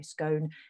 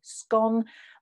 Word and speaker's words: scone: likely to say scone if you're in scotland and the north of england you're very likely to say scone but if you are in the rest of england the sort of midlands north midlands and then the south et cetera you're more likely well actually it's a bit of a bit of a mixture so you could say scone or scone and we've got some